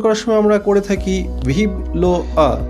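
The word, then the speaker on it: vive le roi: অপর দিক থেকে যে ব্যক্তিকে উদ্দেশ্য করে বলা হচ্ছে তিনি রেসপন্স করত ভিভ লো আ। ভিভ লো আ লেখার সময় আমরা লিখি VIVELEROI, কিন্তু উচ্চারণ করার সময় আমরা করে থাকি ভিভ লো আ। এর অর্থ হচ্ছে লং লিভ দ্য কিং, অর্থাৎ রাজা দীর্ঘজীবী হোক।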